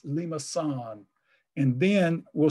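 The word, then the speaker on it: limaçon: that, I'll just say, we expect a Lima sign, this is the Cedille, the soft C in French, and they're similar in Spanish. But it's not Lima con, it's Lima san.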